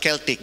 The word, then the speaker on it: Celtic: celtic that is not they pronounce at keltic celtic celtic then the italic then